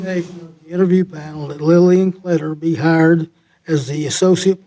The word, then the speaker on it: Kletter: I, move to approve the hire of Lillian Kletter. Is that how you pronounce it? Yep. Kletter?